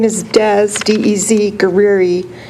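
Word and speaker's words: Guerrie: good evening Commissioners my name is Dez DZ guiri it's spelled gu u e r r i e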